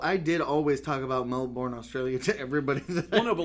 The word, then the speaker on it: Melbourne: it was told to them in Australia like Melbourne in my mind I was born in place